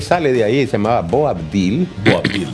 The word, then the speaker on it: Boabdil: de ahí se llamaba Bo abdil boil boabdil con bede cuando él sale de